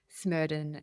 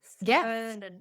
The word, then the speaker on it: Smerdon: But it is pronounced Smerdon. There is no A in Smerdon.